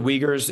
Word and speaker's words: Uyghurs: I think he's talking about the the the Uyghurs. Is that how it's pronounced? If I'm not mistaken. It's pronounced the Uyghurs and you know, so the Xinjiang's a very